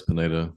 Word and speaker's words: Pineda: it's Pineda, Ryan Pineda.